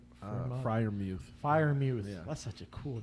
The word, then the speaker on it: Freiermuth: Freiermuth. Freiermuth.